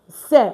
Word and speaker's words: sait: And the next we have is il, elle, sait. Of course, it gets different now. And don't forget, we're not pronouncing the T, we're not pronouncing the S.